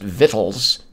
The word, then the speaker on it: victuals: the whole thing about the word victuals being pronounced vittles where did that go cuz I like that you guys looked at that up Richard Holt says it's the same reason anything in English is pronounced weird it came through old French oh well there you